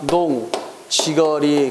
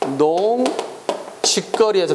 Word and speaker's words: 농지거리: 농지거리. 그래야 돼. 알겠지? 근데 이것을 농직거리에서 틀린 적이 있어. 알겠습니까? 농직거리가 아니라 시작. 농지거리. 우리가 평소 때 발음할 때 자꾸 농직거리 이렇게 발음할 때가 있거든. 잘못된 거다. 농지거리.